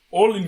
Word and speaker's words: Olignar: Olignar. Yeah, that's how you say it. No, that's stupid. Is it? Olignar. Olignar. That's a little much. It's like Ragnar. It is like Ragnar.